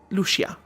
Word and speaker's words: Lucia: Lucia. Yes. It's two syllables.